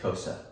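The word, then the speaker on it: Xhosa: they speak what's up it's got that little clicky sound yeah and so as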